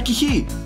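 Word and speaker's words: Κιχί: KIHI (pronounced "Key-He") Whats the special thing about it We make it round like multiple rings Like a snail!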